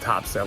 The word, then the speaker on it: Topsail: Here this week on vacation in Topsail Island. You know, it's spelled Topsail. The locals call it Topsail. No idea why. It doesn't make any sense.